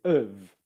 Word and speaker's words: of: How do you pronounce it in normal speaking? You pronounce it with its weak form, which is of. So Dev, of course, of course, of course. And make sure that your bottom lip is vibrating against your top teeth.